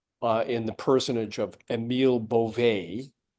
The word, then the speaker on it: Bove: the personage of Emile Beauvais, who I've been pronouncing his name Bove for about a week now, and I feel really bad about that. So Beauvais came in and said, there is no quid pro quo here.